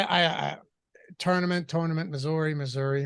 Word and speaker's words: Missouri: that's how it's melting you should be saying Missouri like it's m-i-s-s there's no Z I'm sorry Missouri dude